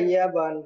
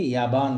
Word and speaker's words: يابان: যেত, কিন্তু আরবিতে জাপানকে ইয়াবান বলে, ইয়াবান, ইয়াবান। আর চায়নাকে চীন বলে, চীন, আর চীন। আর পি এর উচ্চারণ কিভাবে হবে তাহলে? আরবিতে পি এর উচ্চারণ হয় না, বা দিয়ে করতে হয়।